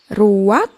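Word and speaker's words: רוח: secara pribadi kata dalam bahasa ibraninya adalah ruak ruak ya benar tenggorokan kita harus benar-benar bersih di akhir pengucapan jadi apa itu memm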